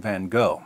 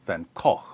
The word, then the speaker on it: Van Gogh: sanity of dutch painter vincent van gogh or van gogh or then or van gogh depending on where you're from and how far you want to deviate from the authentic american pronunciation according to mclean van